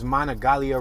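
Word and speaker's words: Monongalia: make this left-hand turn monogalia river i think the second hand is silent so it's monogalia river we're driving super slow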